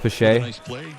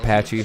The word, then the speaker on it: Pache: Okay, it's pronounced Pache. Not Patchy. Oh, okay, Pache.